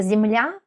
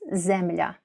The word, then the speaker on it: земля: Например, у вас это земля, у нас земля.